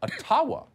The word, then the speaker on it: Ottawa: let the mayor of ottawa or atawa as it's correctly pronounced in a gibber explain why peaceful truck